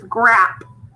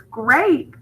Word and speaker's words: great: great G or a now what makes that a say its name an e on the end otherwise it's grap but it's great so it's an A